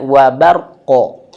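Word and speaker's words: وَبَرْ: Ro yang sukun di sini dia posisinya atau kondisinya dia tebal. Bar bukan bar ya. Wabar. Wabar bukan bar tapi wabar. Tebalin. Wabar.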